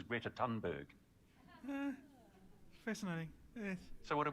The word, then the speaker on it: Thunberg: Greta Thunberg, I wonder if anybody will actually know who I'm talking about, because she is universally mispronounced as Greta Thunberg.